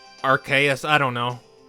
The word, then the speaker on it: Arceus: Someone was actually mad how I chose the pronunciation for him, and The thing is, technically Arceus was the one that was confirmed, since in Sun and Moon they labeled Project RKS. yeah. Yeah, but it sounds stupid. There I have know been, like- it sounds stupid. What's your point? Well, I mean, it makes sense because archaic. Yes.